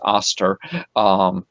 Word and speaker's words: Ishtar: That's how you pronounce Ishtar, is Aster.